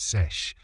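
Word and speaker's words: seiche: This is a real thing called a sesh, pronounced sesh.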